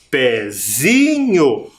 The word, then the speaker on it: pezinho: a silaba mais forte mas não é pezinho pezinho nós nos confundimos por causa do som do e que tem um som mais forte mas perceba que na sílaba a sílaba mais forte é o Zi pezinho pezinho tudo bem acabaram-se as